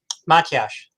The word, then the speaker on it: Matyas: can hear you correctly okay give me the pronunciation of your last name my cash yes yep got okay got it i i